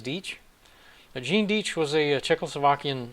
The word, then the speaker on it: Deitch: them earlier skip though i always pronounced it deich but uh i guess it's deetch gene diech was a